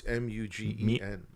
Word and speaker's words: Mugen: guess like I just thought when they said Mugen Train or Mugen Train, however you pronounce it. It's Mutant Train, like X-Men. No, it's Mugen.